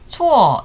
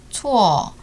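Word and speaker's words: 错: 이 알파벳 C를 본 순간 키역 발음이 생각난 사람 자수하세요. 1강 영상 다시 보고 오세요. 쯔, 츠, 스의 츠죠. 그래서 초어 이 발음도 끝이 완전히 오로 끝나는 것이 아니라 어에 치우치게 끝나요. 초어. 만약 이 한어병음을 본 순간 코어라고 발음했다면 초어 틀린 거예요.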